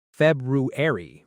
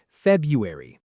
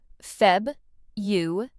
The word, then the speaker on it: February: A lot of learners say every letter here, too. February, but native speakers often skip a sound saying February. Let's practice Febuary.